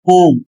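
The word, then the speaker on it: whom: और अगला शब्द है ओम। इसमें भी डब्ल्यू साइलेंट है।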